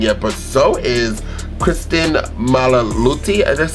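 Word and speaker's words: Milioti: Colin Farrell is bringing it, but so is Kristen Malaluti.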